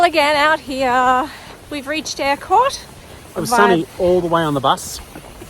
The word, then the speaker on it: Eyrecourt: hike back to portumna I think they pronounce it more air Court air Court I can't air yeah like um bake air okay and the sun's